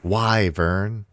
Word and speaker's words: wyvern: It's pronounced wyvern.